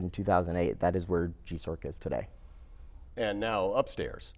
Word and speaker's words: GIESORC: It is actually GIESORC.